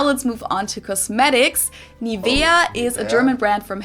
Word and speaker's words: Nivea: pronunciation pretty funny here English native speakers usually say Nivea Nia in German we say nia nia so the emphasis is on the E NAA okay this is